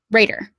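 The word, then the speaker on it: Raidr: That is how you spell it. Raider.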